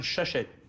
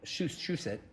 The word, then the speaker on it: Shusett: And I think Ron Shushet, that's the way you pronounce his name.